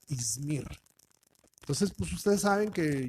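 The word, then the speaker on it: İzmir: Pero en el idioma turco no se pronuncia así, sino se pronuncia Ismir.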